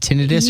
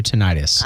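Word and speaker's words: tinnitus: tentis I called it am I saying it wrong is it tenus or tenius well okay so the American tenus Association accepts it either way now that's like football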